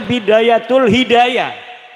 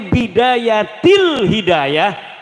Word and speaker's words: Bidayatul Hidayah: Karena deke maca Bidayatul Hidayah. Harus sebah dibacanya Bidayatil Hidayah karena ana huruf jer B.